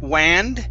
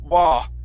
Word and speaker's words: wand: Instead of wand with an A sound, it's wah. Wand.